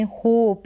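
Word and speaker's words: hope: में देखें डिफरेंस है यहां लास्ट में ई लगा है इस होप में तो हमने होप यानी थोड़ा लॉन्ग पढ़ा और इसको शॉर्ट में हॉप यानी ओ का साउंड शॉर्ट आ रहा है हॉप हॉप का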